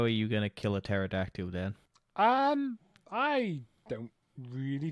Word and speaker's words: pterodactyl: a pterodactyl pterodactyl yeah or Petra decadel no it's pterodactyl if I would be